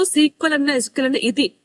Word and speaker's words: SQL: of course next actual का द एसक्यूएल is pronounced as सीक्वल एस एस ई क्यू यू ई L okay